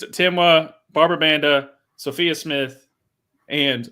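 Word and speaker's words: Temwa: Did I pronounce that right again? Okay, you got it. Yeah, it's Timwa, Barbara Banda, Sophia Smith, and obviously I'm saving the best for last, Trinity Rodman.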